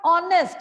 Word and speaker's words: honest: now see the word honest it although it starts with a consonant but the sound that we are getting is of oh here h is silent and that's why we